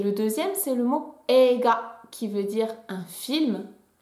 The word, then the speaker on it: eiga: On est censé le prononcer comme ça et non pas sensei. Donc sensei. Et le deuxième, c'est le mot eiga qui veut dire un film.